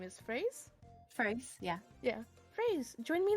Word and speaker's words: Fraise: I forget how you're supposed to pronounce her name. Is Fraise? Fraise, yeah.